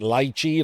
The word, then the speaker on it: Liche: Uh I know his name is spelled like that, but I've been told on good authority that he pronounces it lychi like the fruit.